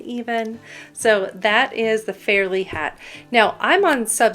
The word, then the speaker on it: Fairlea: hat in a nutshell it's because the West Virginia State Fair is in Fairly West Virginia that's why it's spelled f-a-i-r-l-e-a and um the state